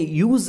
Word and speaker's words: use: When we ಯೂಸ್ ಇಟ್ ಆಸ್ ಅ verb, ನಾವು ಇದನ್ನು verb ಆಗಿ ಬಳಸ್ಕೊಂಡ್ರೆ ಇದರ ಉಚ್ಚಾರಣೆ ಯೂಸ್ ಅಂತ ಬರುತ್ತೆ, ಝ ಶಬ್ದದಿಂದ ಎಂಡ್ ಆಗುತ್ತೆ. When we ಯೂಸ್ ಇಟ್ ಆಸ್ ಎ noun,